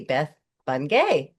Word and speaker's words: Beth Bungay: And today I have with me Beth Bunge. Beth, did I pronounce that right?